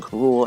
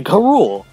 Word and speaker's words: K. Rool: Rool, whose name actually should be pronounced King K. Rool as it is in Japan, because in the Donkey Kong Country cartoon, they say K. Rool.